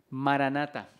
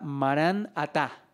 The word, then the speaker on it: maranata: O sea, hay dos maneras de pronunciarlo, pero cambia un poquitico, pero en esencia el concepto es el mismo. Por ejemplo, hay versiones de Biblia que toman la palabra Marán Atá.